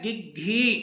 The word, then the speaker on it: گگھی: دینا ہے وہ ہے گگھی۔ گگھی لفظ ہے اور اس کے معنی ہے بولتی بند ہو جانا، پریشانی کی وجہ سے بول نہ سکنا، تو یہ دونوں کے نیچے زیر لگا دیا گیا ہے، آپ جو ہے وہ